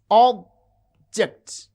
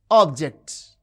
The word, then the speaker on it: object: Consider a word like object. You can see object. object. The first syllable has prominence.